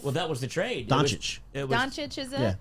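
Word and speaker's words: Dončić: Doncic. Doncic, is it? Yeah, Doncic.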